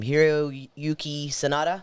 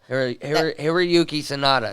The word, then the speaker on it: Hiroyuki Sanada: Hiroyuki Sanada? Yeah. Yeah. Hiroyuki Sanada.